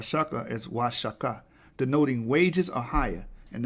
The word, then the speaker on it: Huachuca: Spanish Cadiz is for now shut the correct pronunciation of Y chakra is Huachuca denoting wages are higher and there's the Hebrew